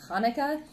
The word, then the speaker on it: Hanukkah: Hanukkah which I'm yeah I'm fairly certain based on everything I've read it's pronounced more like Hanukah but I'm not sure